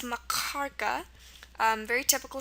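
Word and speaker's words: махорка: gutural k sound and it's pronounced like it comes from your throat like at the very back so it's pronounced marara um very typical sound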